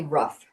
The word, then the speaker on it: Roug: is it is it or rough is it right you pronounce it uh it is actually rough hold on there we go it's it's rough like Rough and Ready rough and tough r o u g